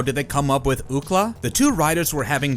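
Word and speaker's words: Ookla: the acronym on signage, the phonetic pronunciation leapt to mind. Why not call him Ukla?"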